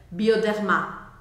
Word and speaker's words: Bioderma: ar saindo pela garganta bioderma bioderma ele é bem Sutil não é bioderma tá bom E esse o a gente vai marcar ele bem porque isso vai te